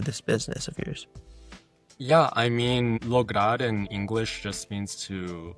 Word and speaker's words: Lograr: Speaking of, you are the founder of is it Lograr? Is that how you pronounce it? Lograr, yeah, it's in Lograr.